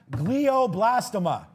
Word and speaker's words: glioblastoma: It's pronounced glioblastoma there.